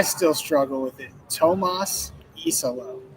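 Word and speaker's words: Iisalo: Tomas Isolo. E as in the letter. Yes. Well, and the thing about it is those 2 I's right at the start really kind of throw you.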